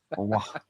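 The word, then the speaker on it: Aouar: That's how you pronounce it, people. Awa. Awa.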